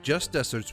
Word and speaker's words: just deserts: deserved reward or punishment, which is spelled like the arid land, but pronounced like the sweet treat.